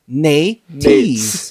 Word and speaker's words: nates: Phonetically spelled, it is N-A with a little line over the A, a dash, a T with an E with a little line over the E, and then a Z at the end.